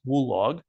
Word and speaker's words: WLOG: statement here or not wlog often pronounced as wool log stands for without loss